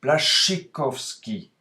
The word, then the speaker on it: Błaszczykowski: En polonais, le SZCZ se prononce Błaszczykowski.